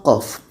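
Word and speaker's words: ق: Sekarang kita tampilkan contoh pertama qof. Kalau kita lihat ejaan qof seperti ini. Dan di sini tidak ada terjadi proses idgham tapi tetap kita panjangkan enam harakat.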